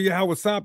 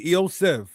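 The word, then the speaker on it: יוסף: letters it's Eio F remember you guys said that only sounds in the Paleo Hebrew is ah and I. Well, transliteration shows they heard and knew the f sound, the f sound. The Latin vulgate. If the name were Yahawas, the Latin wouldn't say Yoseph. It would show the ah and the Yah, but it doesn't because that sound isn't in the name.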